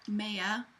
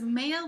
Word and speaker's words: Maya: The main character's name is Maya. Could be pronounced Maya, I'm not really sure, but I'm going to go with Maya because it's M-A-Y-A.